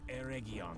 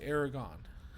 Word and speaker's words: Eregion: rings saved from Sauron's vengeance when he brought Eregion to ruin. Eregion? Wow. Eregion. I've always called that Aragon.